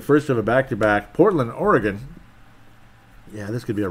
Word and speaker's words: Oregon: I'm saying it correctly unlike most people they call it Oregon it's Oregon yes because I've met